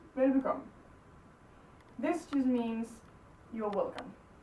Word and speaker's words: velbekomme: Velbekomme. But when we say it normally, we don't say the last syllable, we just say velbekomme. Because this just sort of flows into it. So it just becomes velbekomme.